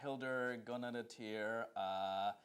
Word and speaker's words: Hildur Guðnadóttir: Yes, I also believe, and I believe that her name is pronounced Hildur Guðnadóttir, and I think that she will deservingly win.